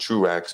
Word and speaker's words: Truax: French name is Tro, but it's pronounced Truax.